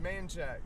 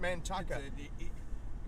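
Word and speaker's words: Manchaca: pronounced manshack I'm sorry but it's always been pronounced manack not Manaka the way I interpret that stuff is is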